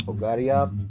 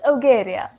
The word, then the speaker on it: Ogaria: Auroran pages legend of Agaria. Ogaria sorry I mean why Agaria and Ogaria? What's the difference? I mean what is the correct pronunciation? It's Ogaria.